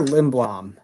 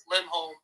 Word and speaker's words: Lindholm: Oscar Lindblom. Is that man? Oscar Lindholm. What? Lindholm. Oh, I'm saying it wrong? Yeah, it's Oscar Lindholm. All right, I thought it was Lindblom.